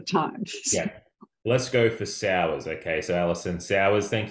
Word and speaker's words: Sauers: I think I said Sawyers before, but I'm It, wondering. which is fine. It's actually Sauers, but Sauers.